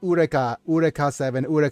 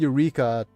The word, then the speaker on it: Eureka: It's spelled in Japanese as Eureka, and in the series they call it Ureka 7. It just feels, because the pronunciation is not correct. But yeah, it's freaking Eureka, from what Archimedes says